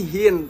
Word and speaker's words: Hien: hand Iya susah banget biasanya orang hien kalau enggak Hin gitu Tapi sebenarnya sih Hin tapi kebanyakan orang bilang hien akhirnya jadi hien gitu oh